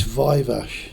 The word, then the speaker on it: Viveash: How is it properly pronounced? It's Vive and